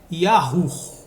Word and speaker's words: Yahu: próximos estudos ok Ok mas a pronúncia é yahu nunca iu e eu vou te